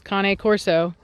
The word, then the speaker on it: Cane Corso: Told me he had just gotten his first Cane, so it's how it is, Cane Corso.